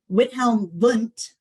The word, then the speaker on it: Wilhelm Wundt: So fast forward to 1879, Wilhelm Wundt, pronounced with a V, is the father of psychology.